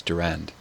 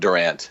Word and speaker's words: Durand: say his last name I believe it's Durand Durand not Durant yeah I think that's